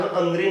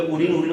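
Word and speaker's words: अनृण: शुद्ध उच्चारण अनऋण है, परंतु लोग में उरीन अशुद्ध है, इसलिए मैं भी उरीन कह दे रहा हूं, अनऋण है, ध्यान रखिएगा।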